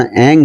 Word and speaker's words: ऐं: यद्यपि भगवती देवी सरस्वती के वाक बीज मंत्र का शुद्ध उच्चारण ऐं है, परंतु कृपामयी भगवती उतत्य